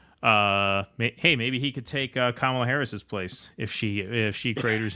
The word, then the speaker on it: Kamala: The Indian Hindi pronunciation of her name is Kamala. The second syllable A is very short. So Kamala.